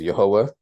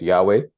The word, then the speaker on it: Yahweh: our bible discussion the name of God is yahwah and um there were many that pronounced his name as Yahweh you see that in many books as well